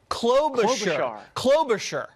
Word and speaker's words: Klobuchar: Now, the Minnesota woman who apparently throws shoes at her staff, Amy Snow Globe Klobuchar? Klobuchar. I had too much shear on the Shar.